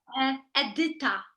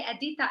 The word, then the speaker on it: Edita: I don't know if I'm pronouncing it right. Edita, is that right? Yes. This is And like more Edita in Polish. Edita. Edita, but you can say Edita and it's fine.